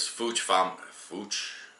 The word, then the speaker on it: Fouch: He said that the name of the channel is Fouch Family Off Grid. Fouch Family Off Grid, I think they pronounce it.